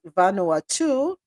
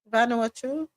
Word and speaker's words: Vanuatu: territories as well as Vanoa 2. Did I say that right? Vanuatu. Vanuatu. There's no W in there.